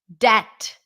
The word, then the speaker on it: debt: no l there Colonel debt that's another good one no B debt I'm debt-free do you